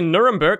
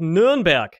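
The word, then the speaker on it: Nürnberg: called kern you know you don't say nuremberg it's called nurnberg learn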